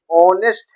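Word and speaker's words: honest: यहाँ पे है एच, यहाँ होता है ऑनेस्ट, ऑनेस्ट, इसका प्रोनाउंसिएशन ऑनेस्ट है, ऑनेस्ट, या फिर आप ऐसे बोल जाता है ऑनेस्ट, ऑनेस्ट, ही इज एन ऑनेस्ट मैन।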